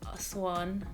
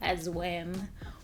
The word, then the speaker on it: Aswan: I can pronounce Aswan, not Aswan or Aswam.